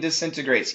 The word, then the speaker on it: disintegrates: Ariane asks, you said cancel the T and disintegrates. Yes, we can. Absolutely. And many Americans will cancel the T in disintegrates.